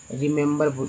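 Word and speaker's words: remember: अब इसमें पहला ई को छोटी, दूसरा ई को जो है ए और तीसरा ई को जो है सो अ के रूप में उच्चारण किया जाता है। ये देखिए रिमेंबर इस तरह से लिखते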